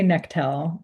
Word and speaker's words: Nectel: I say Nectel.